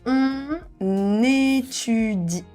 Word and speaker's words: étudie: elle étudie elle étudie on étudie on étudie so you can really connect with de liaison. We won say on étudie but more on étudie. On étudie just e.